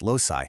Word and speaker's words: loci: Now, when we have more than one locus, it becomes loci, pronounced loci.